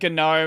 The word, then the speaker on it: GNOME: If you don't like Gnome, just call it Gnome and know the hell out of us like Silent G or not. You developers will say both. People say Gnome or Gnome. It no one cares anymore. It used to be Gnome because of GNU and ever since the